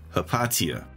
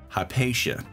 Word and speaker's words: Hypatia: After that, we have Hypatia, or as the British say, Hypatia.